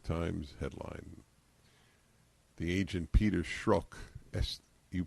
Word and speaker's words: Strzok: The agent Peter Strzok, you pronounce this correctly, you're good, S-T-R-Z-O-K, is considered one of the most experienced and trusted FBI counterintelligence investigators.